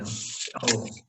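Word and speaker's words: שאול: Shaul. How would you spell that?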